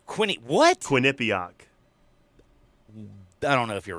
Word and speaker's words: Quinnipiac: quinnipiac is it was it wasn't merrick winnipeg no quinnipiac is how you say quinny what quinnipiac i don't know if